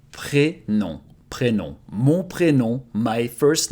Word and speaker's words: prénom: So first name is prénom. Prénom. Prénom. Mon prénom, my first name. Pré is just like in English when you say pre-something, pre-recording, pre-party, it comes before.